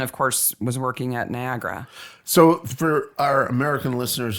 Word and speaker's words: Niagara: as I have lived I didn't know that there was an extra syllable in Niagara what did you think it was it's Niagara no it's Niagara yeah it's not Americans say Niagara it's gra at the end but g-a-r-a Niagara we have visited the fall I've been there and I didn't notice it was Niagara a do yourself a favor